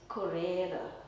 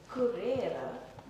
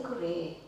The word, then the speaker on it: currere: So, he actually terms uh or he calls it currere. Ooh, I must pronounce it properly. Currere. Um and he says currere. I used to say currey, but now that I discovered it's currere.